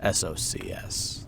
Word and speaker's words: Socs: I guess it's a short anagram for socials, but it's pronounced like SOCS.